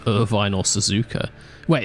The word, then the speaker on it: Irvine: shabby what the hell Irvin Irvine the name is pronouncedly to Irvine the town there's probably loads of